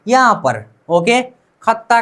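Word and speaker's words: 걷다: अब द और द को मिला लीजिए, द और द को मिलाकर उच्चारण कर दीजिए तो खत त प्लस आ ता, खत्ता।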